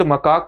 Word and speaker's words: macaque: इसको सामान्य तौर से, क्योंकि इसका उच्चारण मकाक के रूप में होता है, इसलिए इसको मकाक यहां पर लिखा गया है।